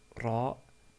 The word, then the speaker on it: ر: Nous avons vu la lettre Ra qui, comme nous l'avons dit, est comme si un R roulé, comme c'est prononcé en italien ou en espagnol.